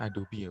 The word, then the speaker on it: Adobe: yang pertama ada adalah Adobe Illustrator ya ketika Kalian Dengar Adobe ya Ini bacanya Adobe ya Bu adob Adobe Illustrator jadi dia siih